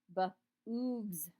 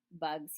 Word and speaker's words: bugs: "Bugs," he said. "Good," said Stanley. "Remember, it's a short U if there's no E at the end.